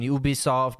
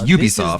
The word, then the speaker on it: Ubisoft: Well, it's Ubisoft. This is the latest. Because it means ubiquitous software. It's shortened for that, so that's how you pronounce it, not Ubisoft.